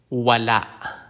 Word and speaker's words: wala: tulai is a bridge the consonant W like the W in water Wala waa it means none